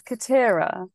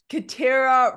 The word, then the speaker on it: Kitiara: It's Kitiara. It rhymes with Shakira. Kitiara rhymes with Shakira.